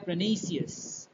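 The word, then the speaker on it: pernicious: इसकी प्रोनन्सिएशन है प्रनिशियस।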